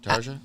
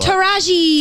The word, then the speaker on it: Taraji: Yeah, Tarja? I don't know how to pronounce her name. Oh, What? Taraji.